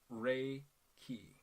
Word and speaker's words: Reiki: just kidding but uh it's pronounced ray ki think about it was a ray and then a key unlocking that ray boom mind blown ray